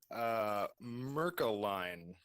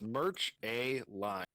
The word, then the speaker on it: Mercaline: Can you spell it for me? Mercaline. It's Merch A Line.